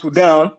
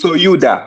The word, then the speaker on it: Sudan: The proper way to pronounce Sudan because we we all say Sudan but the proper way to pronounce it is souda. All right.